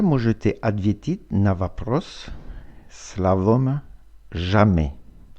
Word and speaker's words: jamais: Никогда на французском это jamais. Jamais. S не читается.